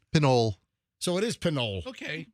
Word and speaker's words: Pinole: Could you please give us the proper pronunciation? Pinole.